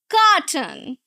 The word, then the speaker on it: carton: Now in the first one carton. Carton. Two syllables. Right? You're going to stress the first syllable.